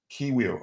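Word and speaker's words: Kiwior: David Ry between the six, the two center backs, Ki Kio, is that how you pronounce his name? Kiwir.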